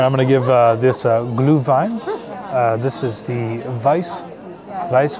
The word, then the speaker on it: Glühwein: it's pronounced Glühwein. It's very hot, though, right now. But it is very good. All right, I'm going to give this Glühwein.